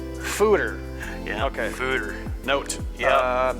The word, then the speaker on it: foeder: I always wanted to say fooder. Yeah. It's fooder. Yeah. Okay. Fooder. Note. Yeah. That is fooders rhymes with hooters.